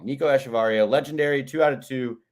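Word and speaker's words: Echavarria: Nico esar ETA varia I think the emphasis is at the end of his name varia all right Nico asharia uh I'll just say it Wrong Nico asaria legendary two out of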